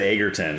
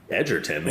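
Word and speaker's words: Egerton: Well, I just learned not too long ago that it's pronounced that way. I always said Agerton cuz it's got the two G's, but it's like Edgerton.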